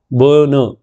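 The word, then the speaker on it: burner: व कहते हैं बन बन ध्यान रखिएगा यह बर्नर नहीं है र का उच्चारण बहुत कम है बन दिस इज बर्नर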